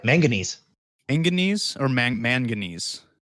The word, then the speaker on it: manganese: Manganese or manganese? Manganese, like mango.